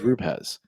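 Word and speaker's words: rupees: At least what I was told is rupeez.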